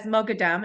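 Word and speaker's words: Moghadam: Um it's an Iranian last name. You can pronounce it Joseph as Mogadam if you like.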